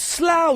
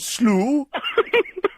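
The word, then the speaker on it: Slough: from Dan Fant uh it's pronounced slow you idiot we've done a whole show about slow not slooh how can you how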